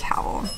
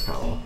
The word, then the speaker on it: Cawl: Yeah, we didn't say it properly. It is Cawl. It is Cawl.